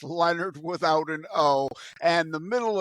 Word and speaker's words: Lenard: for having me and yes it's Leonard it's not French people want to pronounce it lonard but it's Leonard without an and the middle initial in there